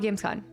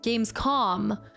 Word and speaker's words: Gamescom: It's weird, but it ends in M. Gamescom. Oh, it ends in M, so I am saying it wrong. It's Gamescom, not con.